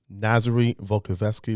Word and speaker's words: Nazary Volkovsky: people you want to be around for sure nazary volkovsky ladies and gentlemen i say it right he